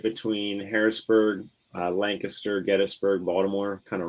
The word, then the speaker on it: Lancaster: I'm in York, so it's right between Harrisburg, Lancaster, Gettysburg, Baltimore, kind of right.